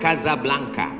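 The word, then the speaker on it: Casablanca: nama negaranya Maroko ibuotanya tulisannya Casa Blanca cara bacanya kazablanca Kaza artinya rumah Blanca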